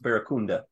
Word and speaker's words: barracuda: So the English word barracuda is pronounced barracunda.